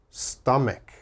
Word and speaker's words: stomach: stomach never say that it is always stomach stomach strong k sound here stomach all right